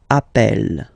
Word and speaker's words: appelle: and then you get a double consonant, and well, they are the same, then it does change the pronunciation of a. You tend to pronounce it like really open. That's the reason why you pronounce it appel, okay?